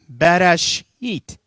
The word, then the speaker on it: Bereshit: Bereshit. All right? Bereshit. Or in English, Bereshit. But in Hebrew, R's are ra. Okay, they're not ra. They're in the back. They're like bara.